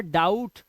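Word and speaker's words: doubt: जैसे डाउट, अब इसे डो यू बटा नहीं पढ़ना है, यहां पर डाउट, बी साइलेंट है, ध्यान रखना, डाउट।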